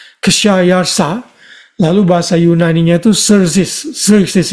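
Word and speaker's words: Khshayarsha: K H S H A Y A R S H A Kayarsa.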